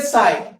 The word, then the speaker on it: psi: ये दिखा है, ये देखो, इसको बोलते हैं साई, PSI, P साइलेंट है, पसाई नहीं, PSI साई, क्या बोलते हैं इसको।